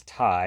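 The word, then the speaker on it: Tai: And the number 75 is Thai, and that's spelled T-A-I, sort of like the Thai food, but pronounced Thai, like Ty Warner, the creator of the Beanie Babies, actually.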